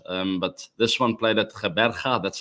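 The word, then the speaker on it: Gqeberha: uh affected match um but this one played ATA that's how you pronounce that it's um the old the new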